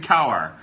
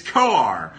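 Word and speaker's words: Kowar: linked heavy to jackson cower or koar or cower and his mom told me how to pronounce his name and i'm still doing it wrong it's koar uh the cardinals have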